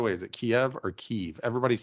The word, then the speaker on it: Kyiv: Kyiv is the way they prefer it to be pronounced. So if I heard a Ukrainian say it, it would sound like Kyiv.